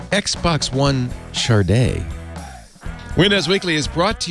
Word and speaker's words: SADE: episode 617 recorded Wednesday April 17th 2019 it's pronounced Xbox one sharda windows weekly is brought to you by wasabi